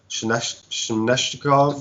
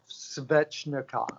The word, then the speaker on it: Svechnikov: I don't know, how do you pronounce his name for the Carolina? Shneshnikov or something? Svechnikov.